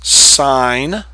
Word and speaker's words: sine: and cost it's not you pronounce this sign long I you pronounce this cosine